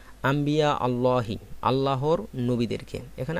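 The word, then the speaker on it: أنبياء: এর বহুবচন হচ্ছে আম্বিয়া এখানে নুন সেকেন্ডের পরে বা আসাতে নুনটাকে মিম দ্বারা পরিবর্তন করে পড়তে হবে আম্বিয়া বলতে হবে আম্বিয়া আল্লাহর নবীদেরকে এখানে আম্বিয়া শব্দটা মুজাফে এজন্য আলিফ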